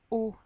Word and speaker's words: aux: Et ici, on va dire O avec un X, mais la prononciation est identique, c'est le O.